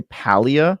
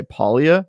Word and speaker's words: Palia: So some of them on their team say Palia, some say Palia, and some say Palia, which I think we can all agree is insane. But yeah, you can say it in any pronunciation you want, and they are all correct according to the developers and creators of the game.